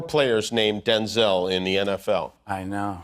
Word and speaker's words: Denzel: Because, wait a minute, because my name's not pronounced Denzel. My name's pronounced Denzel. Oh. I'm Denzel Jr. My father's Denzel Hayes Washington Sr. I'm Denzel Hayes Washington Jr. My mother would say, "Denzel," and we both show up. So she said, "From now on, you're Denzel." Well, that's how it got pronounced Denzel.